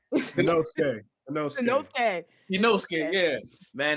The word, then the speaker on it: Inosuke: I caught up late, and I get joke for not saying his name right, but is Inoki? I said it right. Inosuke.